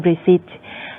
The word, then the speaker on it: receipt: ค่ะในสไลด์นี้นะคะอาจารย์ดอนน่าก็พูดถึงการไม่ออกเสียงนะคะสระในที่อาจารย์เรียกว่า silent letters นะคะอย่างเช่นในคำว่า receipt นะคะจะเห็นว่าสะกดด้วย pt แต่ว่า p ไม่ออกเสียงนะคะเป็น receipt แล้วก็คมนะคะก็ไม่ออกเสียง d night ก็ไม่ออกเสียง k นะคะ scent ก็ไม่ออกเสียง